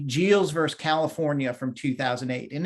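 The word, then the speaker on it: Giles: was jeals i believe it's a soft g geos vs california from 2008.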